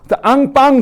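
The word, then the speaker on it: enfant: 앙빵 그러지. 이게 이제 아 발음 나서 앙.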